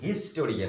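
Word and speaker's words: historian: তাহলে এইচ এর উচ্চারণ দেখো, এইচ এর উচ্চারণ হিস্টোরিয়ান, আমরা এইচটা কিন্তু উচ্চারণ করছি, ওই কারণে সেখানে কিন্তু এ বসবে।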